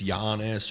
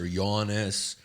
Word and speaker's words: Yannis: It's in America, it's Giannis or Yiannis or if I'm doing a black show like they just go, "Give it up for Yan."